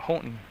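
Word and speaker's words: Houghton: about 18 different ways it's h o u g h t o n and I pronounce it Holton I'll go with that because believe me if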